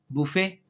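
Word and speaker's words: buffet: बुफे English में इसे पढ़ेंगे बफे।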